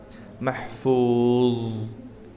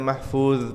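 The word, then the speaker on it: محفوظ: Mahfuzah di akhir surah Al-Buruj. Fi lauhim mahfuz. Bukan hanya mahfuz pakai zal, tapi mahfuz.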